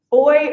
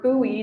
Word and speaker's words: buoy: Uh, it's it's boy or buoy depending on where you're from in the world.